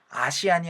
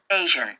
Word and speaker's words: Asian: 아시안이 아니고 에이시안이라고 얘기해야 되거든요. Asian.